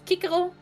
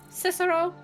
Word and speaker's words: Cicero: Like for example it's Kiko, not Cicero.